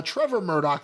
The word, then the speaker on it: Trevor Murdoch: Murdoch def uh Trevor Murdoch that is defeated Morosima.